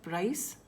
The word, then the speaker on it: price: Synonym of price would be cost. Synonym of reward, prize again. Now see the difference. This is price and this is prize. Get your pronunciation correct. Price, CE, prize, ZE.